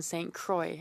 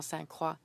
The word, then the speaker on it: Saint Croix: We pronounce my writing Saint Saint Croix and not Saint Saint Croix.